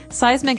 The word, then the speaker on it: seismic: It's pronounced seismic, right? Seismic, that's Seismic. correct.